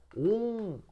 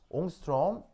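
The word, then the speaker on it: ångström: 이게 스웨덴어인가 뭐 그래서 발음은 이렇게 얘기해요. 옹스트롬 뭐 이렇게 읽으시면 돼요.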